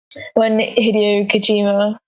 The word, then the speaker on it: Hideo Kojima: And when Hideo Kojima, is that how you pronounce his name?